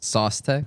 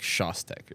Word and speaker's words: Szostek: Szostek.. Really? The. Oh. That's like the American way to say it. It's like Szostek or something.